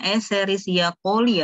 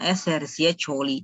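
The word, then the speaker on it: Escherichia coli: pada kultur escherichia colli bacanya escherichia colli Ya teman-teman bukan SR Bukan eserciacoli tapi escherichia colli bdya yang ditumbuhkan di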